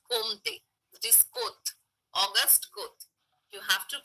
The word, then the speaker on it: Comte: It is Comte. August Comte. You have to pronounce it in that way.